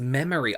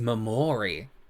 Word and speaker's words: Memory: Oh, it's pronounced Memory. I thought it was Mamory. Um what Oh, wait, that's the same thing, right? It's just in a different language.